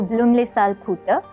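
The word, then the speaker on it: Blüemlisalphütte: is a trek to bloomle salputa this is how the swiss pronounce it uh it is basically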